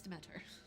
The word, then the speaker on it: Demeter: It's Demeter.